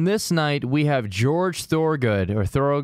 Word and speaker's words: Thorogood: So on this night, we have George Thorogood.